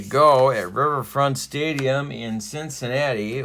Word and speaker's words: Cincinnati: at riverfront stadium in cincinnati or if you're sparky anderson you pronounce it cincinnata all right and first